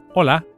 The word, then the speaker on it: hola: A good place to start is the greeting hello, which in Spanish is hola. Please repeat that. Hola. Hola. You can hear that the initial H is silent.